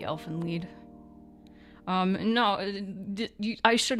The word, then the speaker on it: Elfen Lied: I thought it was Elven Lied. I think it might be Elfen Lied.